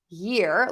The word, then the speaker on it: year: And so I always tell people, think about the word yes. Yes. Most people can say that word. Yeah. Take off that first sound and yes. Yeah. And then add it to ear. Yeah. Ear. Yeah. Ear. Year. Year. Year.